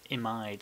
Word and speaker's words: imide: the the image but they're called image but you actually pronounce the compounds imide so in this particular